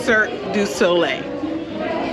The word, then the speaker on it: Cirque du Soleil: a show that you don't know how to pronounce mommy I can say it sir du Soleil there you go anyways it was good it